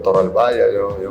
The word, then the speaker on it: Toralballa: Rex um mention pa natin last name ko toral baya Growing Up It Was it was kind of